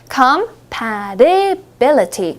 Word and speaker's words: compatibility: compatibility가 발음이 어려우실 수 있을 것 같은데 한번 연습해 볼게요. compatibility, compatibility, compatibility, compatibility. 좋습니다. ability는 아시죠, 여러분? ability. 거기에 comp가 붙었다고 생각하시면 조금 더 편하게 발음하실 수 있습니다.